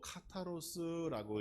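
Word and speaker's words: καθαρός: 청결은 헬라어로 카타로스라고 읽는데 그 원래의 뜻을 보면 순수하다 그렇습니다.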